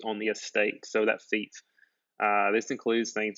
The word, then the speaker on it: fief: Fief is what the word looks like, but it's pronounced fief.